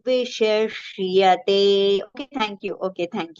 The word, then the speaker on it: विशिष्यते: Vishishyate. See, both two different shas have come together.